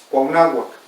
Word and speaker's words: Cuauhnáhuac: El náhuatl original de hace 500 años es Cuauhnáhuac, o la gente que es de ahí, Cuauhnahuaca, y bueno, los españoles ya la nombraron Cuauhnáhuac, que diga Cuernavaca.